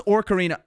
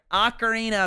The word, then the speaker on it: ocarina: orcarina acarina acarina sorry I pronounce orcarina cuz I'm Irish we've always for some reason we just say orcarina I don't know it's just a thing that I do a sorry Ocarina of Time Legend of Zelda Ocarina of Time I know that's the correct way to say it and that's actually the word but I've never said it like that I I do apologize